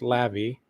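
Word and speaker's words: Laufey: And uh we've listened to it a couple times now and it's this Icelandic artist Lavy spelled L A U F E Y but it's pronounced Lavy and uh wow this is so so good.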